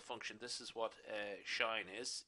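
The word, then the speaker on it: sinh: two hyperbolic functions the hyperbolic sine or general pronounced as shine okay and hyperbolic cosine which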